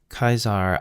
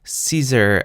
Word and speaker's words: Caesar: Kaisar adsum yamforte. Oh, wait. Let's pronounce this badly. Caesar adds some jam for tea.